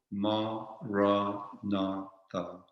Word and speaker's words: Maranatha: So we could say it like this, for example, Ma-ra-na-tha, Ma-ra-na-tha.